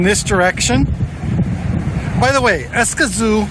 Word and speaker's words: Escazú: direction by the way escazu is pronounced with the stress on the last syllable and I'm having kind